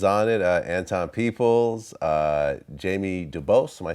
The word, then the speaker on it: Dubose: masterpiece son is on it anton peoples uh jamie dubose am i saying it right yep and jazz